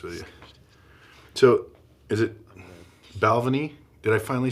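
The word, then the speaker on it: Balvenie: to be honest with you so is it balvan did I finally say it right yeah Balvin balvini is what Shane calls it I don't know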